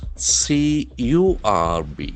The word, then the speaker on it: curb: The letter C has got a hard K sound. When you impose curb and the middle R is silent, curb, you limit something.